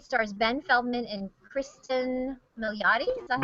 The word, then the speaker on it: Milioti: A to Z stars Ben Feldman and Kristen Milioti. Is that how you say it? Milioti.